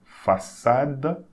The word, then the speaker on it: façade: Okay, when you have C, cédille, it sounds like a double S. So, façade.